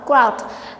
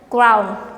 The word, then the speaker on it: crowd: to groud groud cloud crowd i heard some students pronounce this one like ground ground no we don't have any end so we have multiple